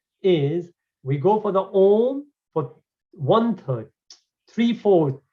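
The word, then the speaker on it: ॐ: the end is that's how om is pronounced traditionally vedic culture right and om clarifies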